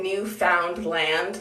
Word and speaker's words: Newfoundland: i'm saying it i some people i don't say newfoundland like the three different words i say newfoundland is that right now